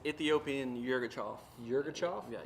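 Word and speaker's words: Yirgacheffe: Okay, so it's Ethiopian Yirgachov. Yirgachov? Yeah, Yirgachov.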